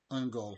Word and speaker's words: Ungol: Am I pronouncing that right? Ungol, yep.